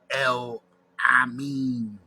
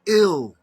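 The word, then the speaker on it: El-Amin: You pronounce your name wrong, brother. El Amin. El. It's ill. Ill. It's a kasra. It's ill. The E is pronounced like an I in Arabic. You pronounce the EL as if it's Spanish. In Spanish, E is pronounced eh. Eh. But this is not Spanish.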